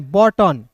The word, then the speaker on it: button: BUTTON, बॉटन। बूटन नहीं पढ़ेंगे, देखिए, क्योंकि जब भी किसी वर्ड्स के बीच में यू आता है तो यू को साइलेंट करते हैं।